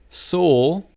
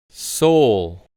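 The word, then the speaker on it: Seoul: Next we have the capital of Korea which is pronounced as soul just like the car made by Kia. So the pronunciation is soul. soul.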